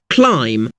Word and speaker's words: climb: For example, the letter B is a fairly common silent letter. Think of the words comb, lamb, climb. The B is silent, but you'll notice that the letter M comes before the silent B.